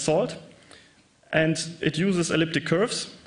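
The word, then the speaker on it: NaCl: curve it uses a networking and cryptography lip pronounced salt and it uses elliptic curves for the Diffy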